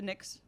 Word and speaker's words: Knicks: too close of names also why do the Knicks have a silent k you know who I